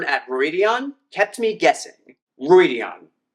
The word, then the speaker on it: Rhuidean: Rhuidean. You know in the glossary it's three syllables, Rhuidean.